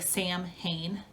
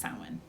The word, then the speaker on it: Samhain: the year samhain and it looks like sam hayne s-a-m-h-a-i-n but it's pronounced samwin the celtic language is